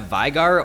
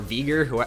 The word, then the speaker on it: Veigar: So next up I have Veigar, or Veigar, however you want to pronounce it.